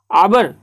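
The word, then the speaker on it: hour: आवर, एच यहाँ पे silent है ना, यानी कि ये वॉवेल से शुरू हो रहा है ना।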